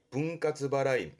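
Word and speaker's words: 分割払い: 지불에 불자 써서 이게 분할 지급, 할부를 말하게 되는데 발음은 분가츠바라이.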